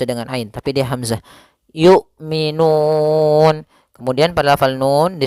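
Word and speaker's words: يُؤْمِنُونَ: Kemudian yu'minun yaitu hamzah memiliki sifat jahar dan sifat syiddahnya dan jelas ya, maka suaranya harus tertahan nafasnya dan tertahan suaranya.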